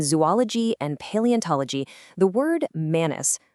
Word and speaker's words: manus: Out in the wild, specifically in zoology and paleontology, the word manus, pronounced manus, is used in its purest Latin form.